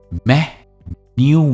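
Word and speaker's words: menu: मैं न्यू मिलता है स्ट्रेस है मह पर और एंड में आता है एक स्ट्रेच साउंड जो है double O sound मेन्यू right it's नॉट मेनू इट्स मेनू example the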